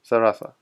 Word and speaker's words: Zaraza: How do you pronounce Zarasa? Say it again. Real name? No. So it's Zarasa, yes? Zarasa.